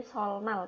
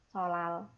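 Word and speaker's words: 설날: Jadi harusnya kalau kita baca ini kan jadi sol nal kayak gitu kan. Tapi berhubung ada real ketemu sama nian ya, nien ketemu real ataupun sebaliknya nien ketemu real kayak gitu sama-sama dibaca double L. Jadi cara bacanya bukan solnal tapi solal gitu ya.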